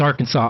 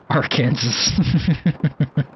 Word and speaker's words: Arkansas: I know it's Arkansas. I'm just kidding. However, when I first came to America and I drove through our Kansas, I mean Arkansas, I actually thought it was R Kansas.